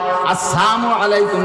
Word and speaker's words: আসসালামু আলাইকুম: আসসালামু আলাইকুম ওয়ারাহমাতুল্লাহি ওয়াবারাকাতুহ সালামটা দেবেন শুদ্ধ কইরা আসসালামের লামটা যদি উচ্চারণ না হয় আসসালামু আলাইকুম যদি বলে নবী আলাইহি সালাতু সালামকে ক্রিটিসাইজ কইরা কাফেররা আসসালামু আলাইকুম বলতো সাম মানে মরণ সাম মানে গজব সাম মানে বিপদ সাম মানে ধ্বংস সাম মানে ক্ষতি তুমি